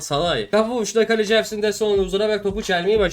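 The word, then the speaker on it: Szalai: Attila Salahi Salahi Salahi Atilla Salahi Sali. Evet Z'yi çıkarmamız lazım orada. Mantıklı z Salahi kafa vuruşta kaleci Ersin desa bak topu çelmeyi başardı hocam.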